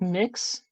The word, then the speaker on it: Mx: used gender neutral honorific is MX which is pronounced mix um or mix with a K instead of